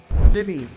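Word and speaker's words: Chile: ये एक कंट्री है ये वर्ड दिखने में चाइल्ड जैसा लगता है ऐसा लगता है कि हम इसको चाइल्ड प्रोनाउंस करें बट गलत हम इसको चिली बोलते हैं चिली चाइल्ड नहीं चिली चिली फ्लेक्स वाला चिली तो मैं अभी सरकोट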